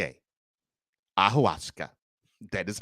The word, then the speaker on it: ayahuasca: y a h u a s c a ahuska that is how it's pronounced so the quarterback took to a podcast